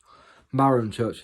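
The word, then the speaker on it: Marhamchurch: That village over there is called Marham Church. Marham Church is how you say it.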